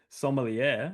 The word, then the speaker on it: sommelier: your main character is a sommelier, a wine taster.